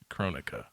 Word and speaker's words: Kronika: I'm pretty sure it's Kronika. She controls time from what we've seen of it her. would be- you're right. You're right. Because it would be like Kronos.